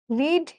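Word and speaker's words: read: একজন জিজ্ঞাসা করছো রিডের পাস্ট পার্টিসিপল ফর্ম কি? রিড রিড রিড। কিন্তু উচ্চারণ করি আমরা রেড।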